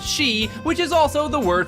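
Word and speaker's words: 四: out japanese gamers as the number 4 is pronounced she which is also the word for death in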